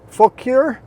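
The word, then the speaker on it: Fauquier: bunch of suggestions on how to pronounce fure um this one seemed to be the most local pronunciation that I could get people that actually live in this area and a couple people suggested this one so I'm going with this one unless someone that says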